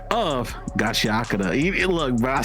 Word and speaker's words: Gachiakuta: We just got done watching episode 3 and 4 of Gachiakuta.